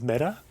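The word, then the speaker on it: Mette: Um, do you know my sister-in-law's name is Meta? Is it really? It is. It's not spelled me ea. It's spelled m e t te t e, but it's meta.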